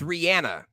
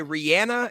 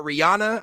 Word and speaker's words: Rihanna: I said the name wrong. It's Rihanna. Okay, I've seen in an interview that she goes by Rihanna and not Rihanna.